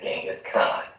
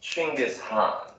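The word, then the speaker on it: Chinggis Khan: versus genghis khan your honor is familiar with genghis khan the 13th century warlord whose military campaigns killed millions and left nothing but destruction in their wake objection first of all it's pronounced chingus han really in mongolia yes regardless he was one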